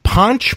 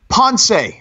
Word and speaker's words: Ponce: From Ponch, Puerto Rico. Ponce. No, Ponch, like from Chips. Spell it. P-O-N-C-E. Ponce. Oh, I mean, Ponce, Puerto Rico.